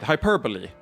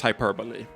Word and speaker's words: hyperbole: Hyperbole, which is I just read the way you said it.